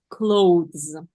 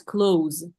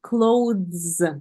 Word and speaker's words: clothes: please close this uhuh we don't read e here yes so that is clothes yes let's say it